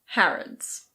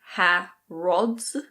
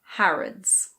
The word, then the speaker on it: Harrods: And now we have the British department store Harrods. It's not "har-OHD's". The last vowel is a schwa. It's Harrods.